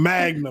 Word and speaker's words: Magna: Any thoughts we wanna share for the manga highlights? First thing gotta be said on this podcast. Period. My nigga Manga back. I said his name wrong. Magna back.